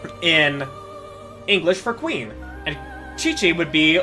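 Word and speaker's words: Qiqi: a character in the Chinese analog area named Chi-Chi. Her name is spelled Q IQI, like when romanized. And the game pronounces it Chi-Chi.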